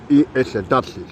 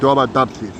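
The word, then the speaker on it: Tharsis: Lo que vosotros sabéis, que nunca habéis tenido la oportunidad de estar aquí en España, habéis leído Tarsis, que se escribe T-H-A-R-S-I-S, Tarsis. Bien.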